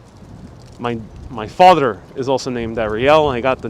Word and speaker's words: Ariel: Your name so looks like the Ariel, the Little Mermaid. Yes, it's the same spelling. But Ariel in Spanish is pronounced Ariel.